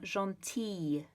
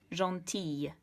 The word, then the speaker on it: gentille: So instead of gentil, it's going to become gentille with a sort of y sound. And to achieve that, you have to double the L. So gentil, gentille.